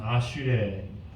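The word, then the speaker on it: אשרי: 히브리어로는 여러분들 들어봤을 만한 아슈레, 에세르라고도 발음될 수 있는데 아슈레.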